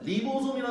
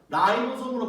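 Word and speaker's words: ribosome: 근데 참고로 새로 나온 토막과학에는 리보솜이라 나오지 않습니다. 라이보솜으로 발음이 바뀌었어요.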